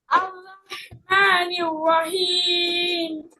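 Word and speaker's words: الرحمن الرحيم: আর রহমানির রাহিম আরহা হাটার উচ্চারণটা ক্লিয়ার করতে হবে হ্যাঁ হলকের মাঝখান থেকে আর রহমানির রাহিম আর রহমানির রাহিম তুমি হা বলো এটা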